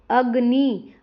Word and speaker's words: अग्नि: इंद्र यहां पे देखो इंद्र अग्नि तो यहां पर क्या है? इ और अ पर ज्यादा जोर दिया जाता है।